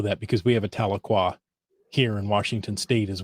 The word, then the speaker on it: Tahlequah: I I know that because we have a Tahlequah here in Washington state as well so it helped me with the pronunciation but this is Tahlequah Oklahoma Cherokee Nation is sharing its Rich history